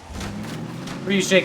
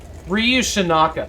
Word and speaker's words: Ryu Shinaka: Ryushika, it's good to see you. Ryu Shinaka. I was looking at your name the other day and realized I've been saying it wrong all this time.